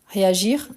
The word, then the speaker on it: réagir: Réagir, on prononce le R quand il est à l'infinitif. À partir du moment qu'on conjugue, on ne prononce plus.